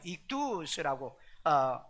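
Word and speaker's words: ἰχθύς: 물고기는 상징으로 해석하는데 이투스 이투스 받아도 이투스라고 이렇게 발음하는게 나아요 거기에 뭐 여름 볼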